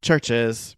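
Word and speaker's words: CHVRCHES: have worked but yeah churches pronounced churches scottish synth pop group been around since like 2013-ish or so or 2011.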